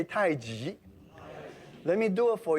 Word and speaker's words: tai chi: sometimes we mispronounced as tai chi which many of you because it says chi for many years i should be pronounced tai ji g means opposite contrast